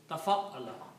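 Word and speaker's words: تَفَعَّلَ: next three letters, fa'ala, we add a shadda on the fa. So this word is now pronounced as tafa'ala.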